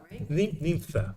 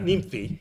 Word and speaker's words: Nympha: Nympha. Yeah, not nymphi.